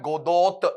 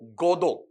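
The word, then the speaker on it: Godot: फॉर गोदो ठीक है यहां पर टी को साइलेंट रखना है गोदो ऐसा नहीं पढ़ना है वेटिंग फॉर गोदो ऐसा पढ़ना है तो यहां पर ये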